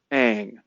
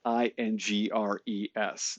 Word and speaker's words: Ingres: Jean a goosed dominique egg egg is spelled ingr es and so you know if you're if you're not a French speaker you might think it's ingres but it's actually a and this was done